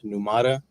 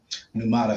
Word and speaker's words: Pneumata: I am the solo developer behind Pneumata.